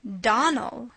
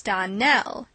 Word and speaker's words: Donnell: you pronounced our name Donal now miss surely the correct pronunciation of our name is Donell Accent on the last syllable I hope you remember